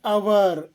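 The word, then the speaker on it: hour: ಆಗಿರುತ್ತದೆ ಎಕ್ಸಾಂಪಲ್ಸ್ ನೋಡಿ ಆನ್ ಅವರ್ ಇದರ ಉಚ್ಚಾರ ಅವರ್ ಅವರ ಅಲ್ಲ ಅವರ್ ಆನ್ ಹಾನೆಸ್ಟ್ ಇದರ ಉಚ್ಚಾರ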